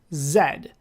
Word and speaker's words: Z: are british computers and in england they don't usually pronounce the letter z as the letter z they pronounce it zed so you know you